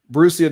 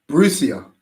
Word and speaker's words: Borussia: Borussia Dortmund. Borussia. Yeah. How am I supposed to say that? Oh, it's Borussia.